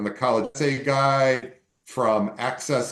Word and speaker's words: AXS: college essay guide from access companion which is an awesome guide. Um it's spelled AXS companion.